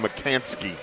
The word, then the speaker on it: McCansky: And I mispronounced, not Logan McKinney, Logan McCansky. Eagles, bad pass, and the first turnover of the game.